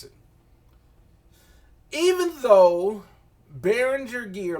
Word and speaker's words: Behringer: Behringer, really, it's actually pronounced Behringer. I don't know how we somehow miraculously changed the G to a J sound to call it Behringer.